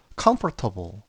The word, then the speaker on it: comfortable: 하지만 이 단어의 발음 기호는 옆에 보시다시피 comfortable 이렇게 테이블이 아니고 table 이렇게 발음이 됩니다.